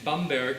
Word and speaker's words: Bamberg: at and I was born in Bamberg who used the proper German pronunciation a beautiful city in